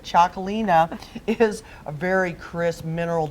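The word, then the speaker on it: Txakoli: as how pronounce this it's TX a Kol I but Chalkley know is a very Kris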